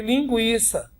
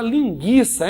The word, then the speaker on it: linguiça: A reforma ortográfica eliminou o trema, então não tem mais trema, mas o U continua sendo pronunciado. Você não deve nunca falar linguiça, hein? Olha lá, hein? Não existe linguiça.